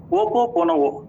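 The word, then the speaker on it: Ho'oponopono: விட்டுவிடக்கூடாது என்று நினைத்த ஒரு கருத்து, ஓப்போ போனா சரியாக ப்ரொனவுன்ஸ் பண்ண வேண்டியது நினைக்கிறேன். OHOOPONO ஓப்போ போனா இதை ஒரு ஆவாலியன் கான்செப்ட் என்று கூறுகிறார்கள்.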